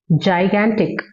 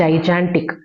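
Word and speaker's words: gigantic: And this word ஜைகான்டிக், நாட் ஜைஜான்டிக். ஜைஜான்டிக்னு சொல்லக்கூடாது. ஜைகான்டிக் அப்படிதான் சொல்லணும்.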